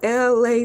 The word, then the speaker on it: Elay: So once again, my name is LA, pronounced like LA, like the city.